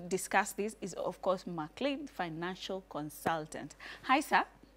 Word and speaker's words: M'Clean: to help me discuss this is of course mle Financial Consultant hi sir hi you look